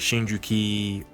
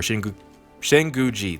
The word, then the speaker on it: Shinguji: But and also, so Sakura could have her moment in saying she wants to be like Shinjuki, or Shinguji, there we go.